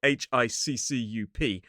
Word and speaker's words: hiccough: But in American English, they do spell it h i c c u p, which actually mirrors the pronunciation, hiccup. fact, I see a lot more people in Britain using that spelling. But this word is technically hiccup.